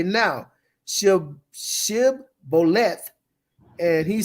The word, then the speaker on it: shibboleth: If you look at it, he couldn't pronounce the sh in there. Right. He was only, was able to say the si.